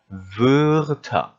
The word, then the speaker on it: Wörter: 그러다 보니까 오 한 상태에서 이라고 발음하면 이런 소리가 나겠죠. 그래서 Wörter.